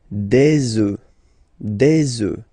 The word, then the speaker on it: œufs: And we'll make the liaison here to make it sound more beautiful. Des œufs, all right?